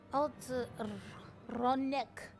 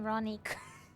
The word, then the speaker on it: Ronek: Ronek. I've been saying Ronik. I've not been pronouncing that correctly.